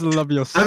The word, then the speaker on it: Leviosa: Leviosa. Oh. It's so. No, it's Leviosa. I mean, I mean, you're like, pronouncing it wrong.